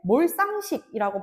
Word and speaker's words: 몰상식: 몰상식 발음할 때 몰쌍식이라고 발음하는 거 맞나요? 맞습니다, 여러분. 몰상식이라고 발음할 수 있습니다.